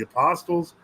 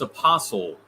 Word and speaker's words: apostle: John of Shanghai is often considered an equal to the apostles. I have a personal devotion to St. Alexis. Go ahead. It's apostle, not apostle.